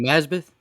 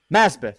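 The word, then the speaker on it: Masbath: sounds like something different and i hate to mispronounce it his last name here because young nazbeth masbeth thank you okay look i like the inclusion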